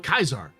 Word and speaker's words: Caesar: You know, this determines if you're real Kaisar, but that's not that's not a Fallout fan. I'm also My wife's a classicist. I know the hard C rule.